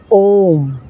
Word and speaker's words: ओम: है ओम शब्द में आ उ इसकी गुण संधि की जाती है और जब आ प्लस उ दोनों को जोड़ा जाता है तो वह ओ बन जाता है और इस तरह से हम इसे प्रोनाउंस करते हैं ओम ओम के रूप में उच्चारण करते हैं ओम जो